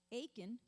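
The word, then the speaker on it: Achan: violated the holy curse aiken which rhymes with bacon son of carmi son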